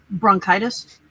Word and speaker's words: bronchitis: How is it pronounced in English? Bronchitis.